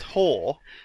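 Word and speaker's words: hår: Pronounced Hor apparently means Oh, hair. Yeah, I should have just said shouldn't I? But spelled hair on your head.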